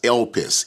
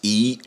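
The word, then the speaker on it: ἐλπίς: And so the Greek word in the New Testament is elpis, E-L-P-I-S is the English transliteration, elpis. It's spelled just the way it sounds, E-L-P-I-S in English.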